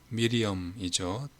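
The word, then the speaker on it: Miriam: 천사 가브리엘이 하나님의 보내심을 받아서 갈릴리 나사렛 동네에 가서 다윗의 자손 요셉이라는 사람과 약혼한 처녀에게 이르니 그 처녀 이름이 마리아라, 미리엄이죠. 본토 발음으로.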